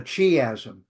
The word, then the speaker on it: chiasm: like an X and so it's called a chiasm c h i m chiasm or chiastic ch